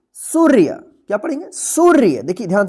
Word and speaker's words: सूर्य: रेफ की मात्रा है तो इस रेफ का मात्रा जो है ना उच्चारण होगा सु के बाद तो क्या पढ़ेंगे इसको सूर्य क्या पढ़ेंगे सूर्य देखिए